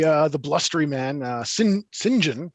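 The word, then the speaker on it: St John: the blustery man uh sinjin which i just discovered is uh how you pronounce uh saint john if it's a given name apparently he seems to legitimately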